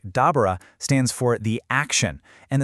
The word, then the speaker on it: دبر: The first one, which is pronounced something like dabber, stands for the action, and the second bara is the result.